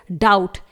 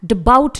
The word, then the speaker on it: doubt: अगला वर्ड है डाउट, DOUBT, इट इज डाउट, इसे हम डबाउट नहीं पढ़ेंगे, यहां पर बी साइलेंट रहेगा।